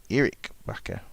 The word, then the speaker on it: Erik Bakker: There, so Steve saying pronunciation is Erik Bakker.